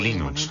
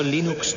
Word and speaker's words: Linux: Bueno, yo Linux lo pronuncio Linux. Sin embargo, si fuese Linux Thorbals, no hay duda de que lo pronunciaría Linux.